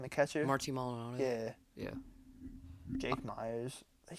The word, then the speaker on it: Maldonado: He's like Martin Molian. How do you say his name? The catcher. Marty Maldonado.